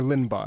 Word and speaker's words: Linebaugh: commons enclosure look at peter limbaugh uh or lindbaugh i guess is how he pronounces his name um l-i-n-e-b-a-u-g-h okay let's